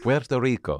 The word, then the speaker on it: Puerto Rico: I can't say it. I can't roll my R's. Puerto Rico. It doesn't even need that much of a role and I'm messing it up.